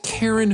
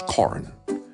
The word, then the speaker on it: Karen: Your name is Karen. No, it's not. It's Corin. It's spelled Karen. No, it's Corin.